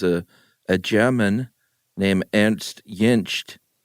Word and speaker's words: Jentsch: Jentsch? That's good stuff. I put a T on the end, but the T's in the middle. Jentsch.